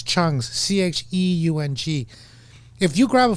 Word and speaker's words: Cheung: And I always tell people, just pronounce it without the E.